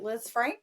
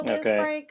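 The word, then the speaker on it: Lisfranc: And they compared it to the is it Liz Frank? Is that how you say it? Frank. Yeah. Yeah. Kind of a French name.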